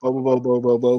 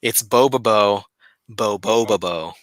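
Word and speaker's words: Bobobo-bo Bo-bobo: It's like before you hear anyone say boba boba boba bo. Okay, bobo bo bo bo bo. Yeah, so you're just like bo bo bo bo bo, but it's boba bo boba bo.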